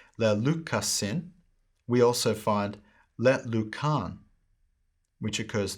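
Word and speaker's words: λέλυκα: The perfect active indicative, first person singular, is le luka. Second, le lukas, le luken, le lukamen, le lukate, le lukasin. Using a modern pronunciation, lelika, lelikas, leliken, lelikamen, lelikate, lelikasin.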